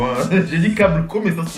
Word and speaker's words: Caboclo: Alors ça se prononce Caboclo, hein. J'ai dit Caboclo mais ça se prononce Caboclo.